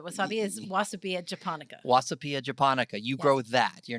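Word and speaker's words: Wasabia japonica: name of the wasabi is wasabi and japonica wasapia japonica you grow that you're not growing arugula no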